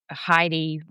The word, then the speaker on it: Heidi: My father says that I used to Heidi rhymes with tidy and from the age of three years old I used to tidy up the house after the rest of the family.